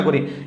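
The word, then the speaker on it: car: pattern গুলো আমরা section five এর ভিতরে আলোচনা করি এবং সেকশন ফাইভে খুবই ইন্টারেস্টিং একটা টপিক আছে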